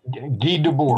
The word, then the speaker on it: Guy Debord: There was a tremendous, the guy, you pronounce his name, to me, it was Guy Debord, but. Yeah, Guy Debord.